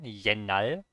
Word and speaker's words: 옛날: It's a very common word that's used with 옛날, I know the irregular pronunciation here. 옛날.